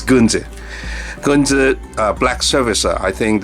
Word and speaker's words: Gunze: Well, most people overseas, you know, call the brand Guns, but in Japanese there's no S sound. It should pronounce as Gunze.